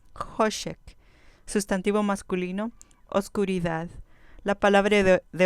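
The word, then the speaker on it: חֹשֶׁך: Hoshek. Hoshek. Con acento en la penúltima sílaba. Hoshek.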